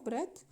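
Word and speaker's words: breadth: ये लिखा हुआ है ब्रेथ बी आर ई ए टी एच होता है डी साइलेंट है है ना तो ए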